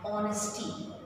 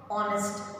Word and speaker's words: honest: sound sometimes words like honesty okay it starts with a consonant h but h is silent we don't say uh honest we say i am